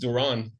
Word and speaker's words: Doron: be uh yeah um usually it's pronounced Duran but uh you can